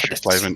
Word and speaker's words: Oschersleben: And I look forward to seeing you at Oschersleben. Have I said it right? Do you know how to say it? Oschersleben? Yeah, close enough. Oschersleben, yeah.